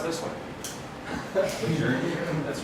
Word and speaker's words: Lejeune: Well, how do you pronounce this one? Lejeune? That's right, it's Lejeune.